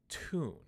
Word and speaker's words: tune: of my previous lessons, those two words, tune and tube, have different pronunciations depending on if a British English speaker says them or an American English speaker. So because I am an American English speaker, I say tube and tune.